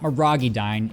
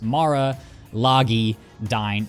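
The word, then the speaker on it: Maralagidyne: No, it's not moragidine. It's mara logi dine.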